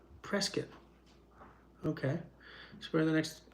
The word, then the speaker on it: Prescott: Prescott is how they pronounce it, strangely enough. Prescott.